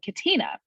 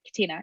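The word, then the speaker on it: Catena: into an app called katina and i think that's how it's pronounced that's how i always say katina it's c-a-t-e-n-a it's a bible app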